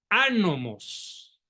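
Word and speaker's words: Ánomos: Lucifer el ojo de anomos apréndase ese nombre por favor anomos con acento en la A anomos qué significa el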